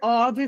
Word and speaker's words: of: Esse ou f aqui ele tem som de v. A order of franga passarinho. One order of french fries.